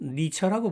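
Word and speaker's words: Nietzsche: 영어로는 니처라고 발음하죠.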